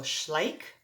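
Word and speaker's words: Schleich: I'm going to spell it for you first. S C H L E I C H. So it's a German company. So Schlike Horses.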